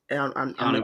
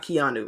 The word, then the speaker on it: Keanu: Keanu Benton. Not Keanu. I know I was mispronouncing the first name.